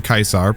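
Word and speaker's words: Caesar: As a self-proclaimed expert on Kaisar's Legion, and yes, I mean Kaisar, pronounced with a K in the proper Latin, I wanted to throw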